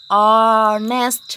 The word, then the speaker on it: honest: He is honest man. Then we have to use an. Why? Because here the consonant letter H is silent.